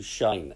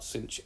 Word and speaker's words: sinh: x or y is equal to shine x depending on how you pronounce it so let y be equal to r cinch of x then by